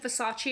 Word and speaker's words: Versace: Too many people have been telling me that my pronunciation of Versace is wrong. So fine, Versace.